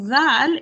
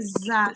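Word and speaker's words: ذ: The dhal is pronounced as a dha, not a za sound.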